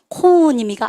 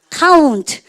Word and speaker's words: count: OU라는 스펠링이 나왔습니다. 발음 어떻게 합니까? 코운입니까? 아니죠. 어떻게 합니까? count. 그죠? 그래서 쌤이 AU는 발음 어떻게 됩니까? OU는 발음이 어떻게 된다? 아우.